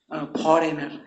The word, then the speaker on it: foreigner: यहाँ पर एक फॉरेनर है, फॉरेनर मतलब विदेशी व्यक्ति होता है, फॉरेनर। यहाँ पर जी साइलेंट, FOREIGNER, फॉरेनर मतलब विदेशी व्यक्ति, नाउन है।